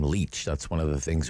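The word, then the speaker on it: Lich: that uh tamara leach she pronounces her name leech that's one of the things we uh learned in the previous court appearance leech um bale denied for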